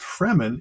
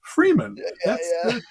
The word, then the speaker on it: Fremen: your own good thing it's not pronounced fremen it's freeman what are you doing